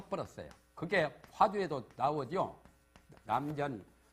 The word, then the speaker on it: 남전: 버렸어요 그게 화주에 나오죠 남전 발음을 전자로 합니다 김천 할 때는 세물 천장인데 남전 참여라 궁화